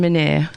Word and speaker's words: Menere: So, yeah, no, it's it's Menere, yep.